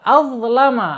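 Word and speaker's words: أَظْلَمَ: Kemudian azlama, awas, hati-hati ya, jangan sampai ada atau pakai zad atau pakai zal. Ingat pakai dha, pakai ya, pakai dha ya.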